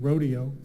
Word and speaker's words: Roadeo: and they this Rodeo it's spelled r o a Deo like road on the road rodo is an annual competition